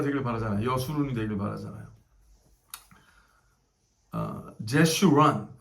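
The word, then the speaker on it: Jeshurun: 제슈란, 영어로 제슈란 이라고 그러죠. 제슈란. 히브리 말도 발음 같으니까 이렇게 했겠죠. 제슈란.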